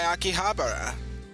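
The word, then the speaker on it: 秋葉原: manga nerd, then be sure to stop by Akihabara.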